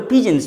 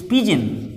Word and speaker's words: pigeon: the roof of the pigeons p i g e o anus it is not pgm its pigeon the pronunciation is pigeon on the roof the